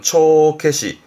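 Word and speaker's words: 帳消し: 발음은 초케시, 초케시.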